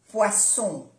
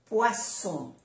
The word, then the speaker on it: poisson: Tanto si queremos decir una cosa u otra, hay que pronunciar aquí bien las dos S. Porque pez, poisson, poisson. Las dos S, poisson. Y si no, es veneno con una S. Poison, poison, poison. ¿Ve que se pronuncia como una Z? Poison, poison, una Z suave.